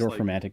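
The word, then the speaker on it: Dorfromantik: on it, the Dolphin crap, how do you pronounce that, the super relaxing tile building game. Oh yeah, It's Dorfromantic, yeah.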